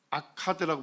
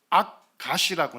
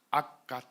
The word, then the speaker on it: 악갓: 아카드라고 불렀습니다. 성경에서는 이 지명을 뭐라고 발음할까요? 악갓이라고 나옵니다. 악갓. 악갓이라는 단어를 NIV 같은 영어 성경에 보면 아카드 이렇게 돼 있을 겁니다.